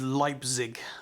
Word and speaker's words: Leipzig: dimensions so i've just been corrected it is leipzig uh that's how you pronounce it i probably again said it wrong